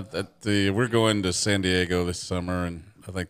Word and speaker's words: San Diego: it no no that the we're going to San Diego this summer and I think that'll be enough okay I've never been to San Diego I've heard it's awesome though actually pronounced San Diago yes so I would decided to figure out